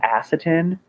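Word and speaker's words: Asotin: girl in the town I think it's pronounced aciton and it's in Washington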